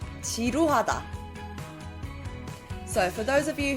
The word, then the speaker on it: 지루하다: 지루하다. 지루하다.